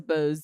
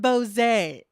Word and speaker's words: Bose: as in Bose Bose it's not bose a as i had been calling it for years I thought I was being sophisticated I was just wrong okay so what makes these Bose Bose a noise yeah